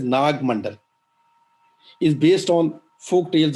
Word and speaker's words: Naga Mandala: The play Naga Mandala, which we pronounce as Nag Mandal, is based on folk tales about Naga.